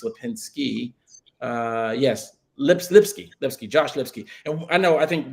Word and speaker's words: Lipsky: The Atlantic Council, we actually have had a conversation with him on Twitter, Josh Lipinski, I think that's how you pronounce his name, maybe it's Lipinski. Yes, Lipsky, Josh Lipsky.